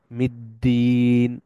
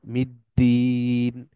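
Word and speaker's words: يوم الدين: বা জের আছে ইয়াওমি আর এগেইন আলিফ লাম এখানে সাইলেন্ট মিটা সরাসরি গিয়ে দালকে ধরতেছে আর দালের উপর আছে তার মানে এটা দুইটা উচ্চারণ হবে অর্থাৎ ধরবে গিয়ে মিদ্দিন মিদ্দিন এগেইন দালের নিচে কাসরা আছে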